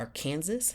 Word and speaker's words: Arkansas: State uh Tulsa our AR Kansas as I like it's Arkansas but it's spelled Aransas come on like literally but yeah